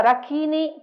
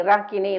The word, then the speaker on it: Rakini: yakini seme in realtà io un po' italianizzato Qui si dovrebbe dire dakini rakini lakini kini sakini rakini e